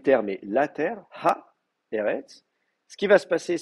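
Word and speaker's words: ארץ: Eret. Donc c'est pour ça que vous allez trouver le mot Eret s'écrit comme ça, Eret, avec une forme finale du tsadé, tant qu'à faire.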